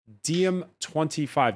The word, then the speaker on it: DiEM25: also a co-founder of the pan-European political movement DiEM25. Did I pronounce that correctly?